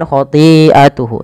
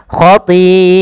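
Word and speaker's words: خَطِيئَتُهُ: Kiah ya jangan khatiatuhu tapi panjangkan dulu khatiatuhu kemudian melafal hu ya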